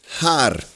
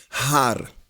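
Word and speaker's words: הר: Então, seria essa palavra seria pronunciada RAR. Seria o R e o R no final. Har. Pronto, lemos uma palavra em hebraico. Har.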